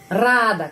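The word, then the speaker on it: радо: binatangetal Ano Ano Rado kita menulis Rado Tapi bacanya a di sini rada karena penekanannya di sini Ano rada dan bentuk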